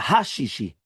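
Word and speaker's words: הששי: The French, they make a big mistake that they don't pronounce the hey. Right? So therefore, since they don't pronounce the hey, right? There's no, they don't realize even there's a hey. You don't know how many times I've said, like, they just don't pronounce it. It's a hey. You have to say the hey, right?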